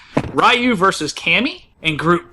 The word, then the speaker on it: Ryu: Actually, it's pronounced Ryu, first of all.